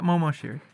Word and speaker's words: Moshiri: Moshiri, is that how you say it? Yeah, Moshiri.